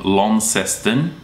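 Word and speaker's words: Launceston: there the one at the top is called lesten and the one at the bottom is Hobart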